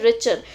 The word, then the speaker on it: Richter: क्या बोलते हैं? रिचर. जो यहाँ पे टी है that is silent. T silent, so रिचर scale.